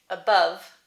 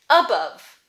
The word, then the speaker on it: above: Two syllables, above, above, above, second syllable stress, but both syllables have the sound.